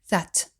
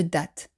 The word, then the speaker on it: that: une majuscule from eng pour la prononciation du that n'oubliez pas qu'il faut placer la langue entre les dents pour obtenir ce son qui n'existe pas dans la langue française that pas de Z pas de dat that je vous renvoie à